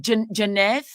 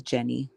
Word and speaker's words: Jenny: What is your name? Janth. No, my name is Jenny. Oh, Jenny. Okay. Okay. Okay. Jen the Gemini. All right. I was I was pronouncing it the wrong way.